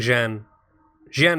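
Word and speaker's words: Xi'an: know what someone's saying and Jen Jean they all sound about the same but I think I think jen jen is probably about right and i think we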